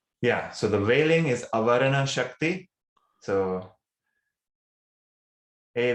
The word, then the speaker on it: avarana: veiling and projecting yeah so the veiling is avarana shakti so a v a r a n a is how you would spell it and the projecting power is viktor uh